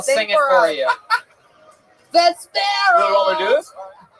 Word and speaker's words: Vespera: Vespera. Vesper with an A at the end. Wow, Vesper. Vespera. Everything with me is Vespera.